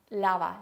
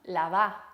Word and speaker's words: lavá: No te dirían lava los platos, te dirían lava los platos. No te dirían ordena tu cuarto, te dirían ordena tu cuarto. Fíjense esa acentuación en la última sílaba.